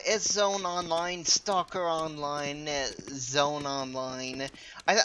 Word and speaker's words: sZone: szone online stalker online Zone online I I think Zone online is the proper way to pronounce it the S is supposed to be silent or something like that and it's a fun